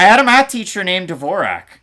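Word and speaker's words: Dvořák: from North America his name's Christian Dvorak David dworshark is from chechia and they pronounce it over there that way so I'm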